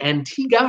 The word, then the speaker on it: Antigua: other news this week unfortunately Antigua I'm T Antigua as they tell me as how you pronounce it Antigua there were assaults in Antigua in the last